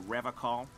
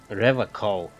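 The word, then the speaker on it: Revachol: The serene way, the fine way, with an elegant s.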